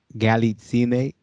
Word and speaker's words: Galitzine: So I am now on the line with a Miss Galitzine yes.